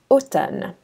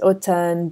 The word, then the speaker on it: automne: So the first one is MN, and that's pronounced N, just like Nancy. And the word that we're going to find it in is automne, which means autumn.